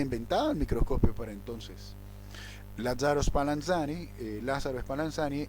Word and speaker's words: Spallanzani: las islas británicas y lázaros spallanzani se pronuncia así las aves para enseñar